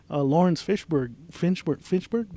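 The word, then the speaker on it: Laurence Fishburne: And then when they bring in Lawrence Finchburg, am I saying it right?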